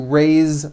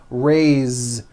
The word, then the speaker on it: raise: Raise, meaning like to raise my hand. Now this word is a bit unusual because even though it is spelled with an S, it's pronounced with a voiced Z. Raise.